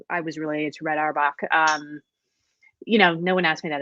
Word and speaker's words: Auerbach: That's AUERBAC. Auerbach, like Red Auerbach.